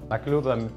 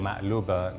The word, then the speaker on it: maqluba: Makluba or makloubeh, makloubeh and makluba is the same word, it's just people. Pronunciation is different.